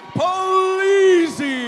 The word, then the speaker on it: Polizzi: For your winner by verbal submission and still undefeated, "" Polizzi. doesn't just rhyme with Polizzi.